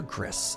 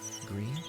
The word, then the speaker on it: Gris: have friends who call is it gree or Gris I'm always so bad at the pronunciation there call that one of their favorite games of all times gree I was correct let's go thanks m